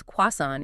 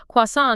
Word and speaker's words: croissant: And we are focusing on that common usage of the word croissant as quasan in many American English contexts. That's crucial. And does that pronunciation change? If he was in London or Paris, would the French pronunciation be better? Oh, absolutely. In a true French bakery, they would expect the traditional French sound.